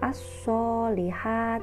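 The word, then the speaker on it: الصالحات: nya adalah sebagai berikut lafadz ini dibaca as-sholihat teebuka al-shalih hati jadi melebur antara al-islam dengan huruf shod ciri khas dari bacaan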